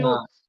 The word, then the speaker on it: clothes: cloth versus Uh, clothes.